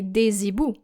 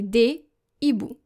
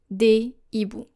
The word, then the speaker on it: des hiboux: You don't say des hiboux. You say des hiboux. you will need to make sure that the articles and the nouns will be pronounced separately. Un hibou, des hiboux.